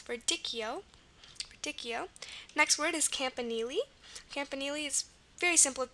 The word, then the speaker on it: campanile: Figure out the campa part, and the nili, the N is normal. And then the I here, it's a long E sound, E, which is going to be I usually in the middle of words.